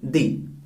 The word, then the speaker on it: the: Word आ रहा है, तो आपको इसका साउंड देना है दी। इसका प्रोनाउंसिएशन जो होगा वो दी होगा।